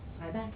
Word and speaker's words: CBAC: With respect to this CBAC grant, yes, I have Cyback? Just 'cause. Okay, well, that's how it's pronounced.